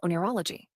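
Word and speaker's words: oneirology: sure the science of interpreting dreams is called onology it's pretty fascinating stuff could you spell it sure it's spelled as o n i r o l o g y it's a cool word right hology okay all right uh so VY why do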